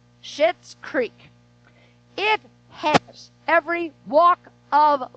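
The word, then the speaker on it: Schitt's Creek: hooked on and it's called shit's creek it's spelled s-c-h-i-t-t-s so just so you know reverend kathy is not up here cussy the show is literally called shit's creek it has every walk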